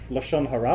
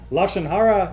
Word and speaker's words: lashon hara: Well, Lashon hara is sort of the Yiddish pronunciation.